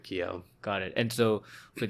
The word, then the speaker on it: Kyo: feel I don't know I feel weird if I if I were to pronounce it like that I feel like people would be like croissant and people judge you for that yeah exactly so we just stick with Keo got it and so